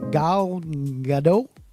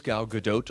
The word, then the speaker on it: Gal Gadot: care to share with us okay sometimes we disagree on how to say this woman's name gao gado gal gadot it's always gal gadot like oatmeal okay she's in the